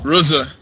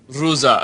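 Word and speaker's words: Rıza: Is it the I with no dot, or is it the I with the dot? It is the I with no dot. It's Reza. Ahmet Reza.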